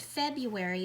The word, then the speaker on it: February: And don't forget that R. We pronounce it February, but it's spelled like Feb-ru-airy.